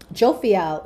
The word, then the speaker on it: Jophiel: Jophiel.